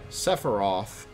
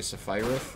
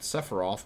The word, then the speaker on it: Sephiroth: used to say and sephiroth prior to actually being pronounced i used to say sapphire um because i was 12 and didn't know any better i didn't realize